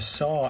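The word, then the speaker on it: さ: Um this is symbol is pronounced like s a in sardine. So it's a it's a saw and it's a a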